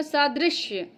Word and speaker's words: सादृश्य: ये बहुत ज्यादा इंपॉर्टेंट है क्योंकि हम बोलते हैं इसको सादृश्य। दृश्य बोलते हैं। लगता है कि यहां पे या होगा लेकिन नहीं सादृश्य की यह स्पेलिंग सही [नाक से की जाने वाली आवाज़] है।